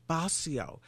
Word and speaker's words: Bascio: That was Father Patrick Basio. His last name is spelled Bascio, a Catholic priest.